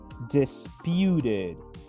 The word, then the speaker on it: disputed: Fíjense que este verbo termina en una E, pero su última consonante es una T, por lo que en pasado o en participio se va a pronunciar disputed. Disputed.